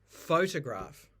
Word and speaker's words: photograph: stress you also have in a word like photograph here we've got two syllables that are stressed we've got the big stress the primary stress is Foe and then we've got a secondary stress on graph so photograph but sometimes the stress